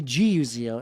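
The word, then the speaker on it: Gazo: So, it's spelled G A Z O but it's actually Guo.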